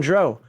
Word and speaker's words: drow: us who pronounce it drow and I say well it's like ow I hurt myself oh w i don't